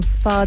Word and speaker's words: Fahd: jewellery gifted um to princess diana by king fahd of saudi wow yeah that's amazing am i pronouncing his name right yeah wow she um